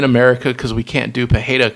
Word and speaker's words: Pereira: Us Americans, we just don't know how to pronounce Brazilian names properly.